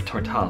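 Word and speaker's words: Tortall: Or Tortal, I think that's how Tammy pronounces it. I guess it's Tortal.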